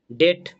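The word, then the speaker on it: debt: ডেট, এখানে কিন্তু বি উচ্চারণ হয় না।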